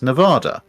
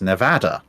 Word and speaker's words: Nevada: because you know i i've always heard and from americans admittedly mostly east coast americans that there's the american battleship of pearl harbor the uss nevada but apparently according to natives of the state it's nevada and i did actually hear somebody from the northwest of the united states call it nevada and i'm i'm pretty